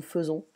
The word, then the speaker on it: faisons: Nous faisons, c'est like a E sound, nous faisons.